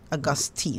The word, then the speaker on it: Augustine: Augustine, not Teen, Augustine.